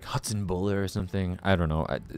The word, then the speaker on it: Hatzenbuhler: say my last name you say my last name like this hatson buer it's just like hats and and then ber like Ferris ber um I think the